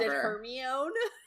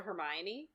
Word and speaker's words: Hermione: and oh my God Hermione I pronounced it herion I pronounced it hermion at on the end well I yeah it